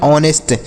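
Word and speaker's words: honest: इसे नहीं पढ़ते हैं एच और ओ अगर एक साथ आए तो एच का उच्चार नहीं करते हैं एच का उच्चारण नहीं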